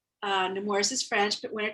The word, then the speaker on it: Nemours: and let's just um get the pronunciation right nemours right newton's power nemours yes no more and i also also